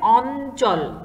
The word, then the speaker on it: অঞ্চল: স্বরে অ, ইয় এ চ এবং ল, বানানটার উচ্চারণ কেমন হবে অঞ্চল, এই ইয় চ এর জন্য একটি দন্ত ন এবং তার সাথে যেহেতু চ আছে তাই চ আর ল।